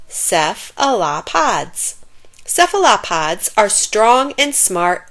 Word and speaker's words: cephalopods: of animals called cephalopodas you say it like this ceph allah pods cephalopods are strong and